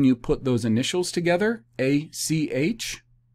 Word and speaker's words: ach: put those initials together a c h ach is the phonetic transliteration of the masoretic hebrew pronunciation of brother ah ach brother brother i would avoid